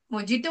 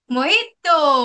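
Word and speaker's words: mojito: which doesn't get pronounce silent J going to be silent it's not going to बी मोजितो मोजतो बट it's going to बी मोहितो मोहितो मोहित very nice why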